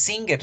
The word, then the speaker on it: singer: pronunciar la verdad entonces singer si se escribe con g pero en la pronunciación lage se desaparece y se fusiona con la n entonces vamos a pronunciar